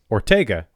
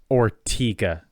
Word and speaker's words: Ortega: there's a section of there's a peninsula in Jacksonville that's spelled um o r t g a which B because of the singer I would say Ortega like Fernando GA but nope it's ortiga everybody calls it ortiga I go to ortiga